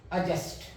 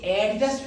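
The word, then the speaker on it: adjust: yeti ट S yeti AD ज यू एस टी अजस्ट य एडजस्ट नहीं है अपन क्या करते है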